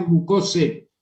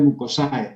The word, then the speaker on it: mucosae: mucosa, muscular y mucosae, que se escribe y se pronuncia mucose, muscular y mucose. Pero siempre los alumnos dicen muscular y mucosae, ¿no? Pero si fuera para aprender para pronunciar correctamente el latín, la terminación AE se pronuncia como E.